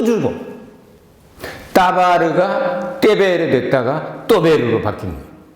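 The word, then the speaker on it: דבר: 사람이 말한다는 것을 따바르라고 합니다. 따바르. 그러면 DBR이네요. 그렇죠? DBR, 따바르.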